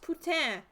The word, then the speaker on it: poutine: Also pronounced putain. There are two different pronunciations in French. There's poutine and there's putain. But I think putain is also slang for something else. So I don't really use putain, I just say poutine no matter what language I'm speaking.